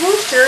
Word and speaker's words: Worcester: And it's pronounced Worcester, even though there's an R in there.